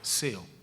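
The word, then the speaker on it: ζέω: La palabra ferviente, hermano, es el griego seo con Z y acento en la E, seo.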